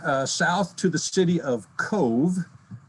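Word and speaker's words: Cobh: So on the road again, south to the city of Cove. It's spelled C-O-B-H, it's pronounced C-O-V-E.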